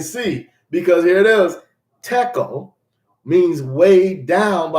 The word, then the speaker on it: tekel: And it's spelled T-E-H-E-L-E. This is the word tekel. This is a Hebrew word. It says tekel.